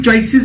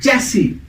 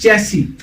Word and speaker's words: chassis: That is चैसी. The correct pronunciation of this word is नॉट चॉइसेस, इट इज चैसी.